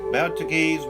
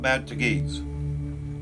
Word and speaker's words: Betelgeuse: Today, many people pronounce the name like the titular character in Tim Burton's 1988 film Betelgeuse.